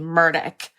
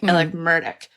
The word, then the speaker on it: Murdaugh: It's like, if you are actually in Hampton, you're saying Murdaugh. Like it's just, it like spits out of your mouth, like Murdaugh.